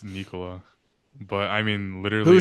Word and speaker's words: Nikola: You told me because he's Serbian, you pronounce it Nikola. Mike Malone pronounces it Nikola, and that's his coach. I'm taking Mike Malone's word over yours. It's Nikola, but I mean literally.